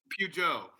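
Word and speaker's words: Peugeot: How do you pronounce that? Pujo.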